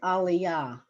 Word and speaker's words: aliyah: So it generally the Hebrew pronunciation, and the pronunciation is on the last syllable.